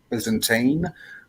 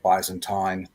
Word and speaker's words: Byzantine: know you might be I think the American pronunciation for it is Byzantine but we would say buys and time um and that would